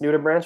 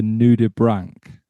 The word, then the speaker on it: nudibranch: butt in and i'm like yeah like this noodle branch was amazing and then after she was like it's actually pronounced new to brink and i said it